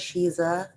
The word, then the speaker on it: Sheeza: well like you said my name is shiza that's spelled s-h-e-e-z-a um it's an intentional misspelling of the phrase she is a um which pays homage